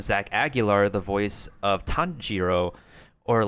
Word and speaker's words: Tanjiro: So, for Kimetsu no Yaiba, instead of having the English voice cast just a Tanjiro, in which you have the R in that sound like an L, they want them to say, like, Tanjiro, in which they pronounce the R with a hard R.